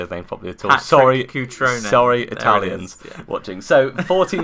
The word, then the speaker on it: Cutrone: actually say his name it's like Cutrone coach Ron crouton that's the bread